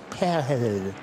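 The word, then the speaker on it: Pijl: His real name means arrow in Dutch, but sounds more like pale. And none of us can certain English speakers have a real difficulty in saying it. It's spelled P I J L.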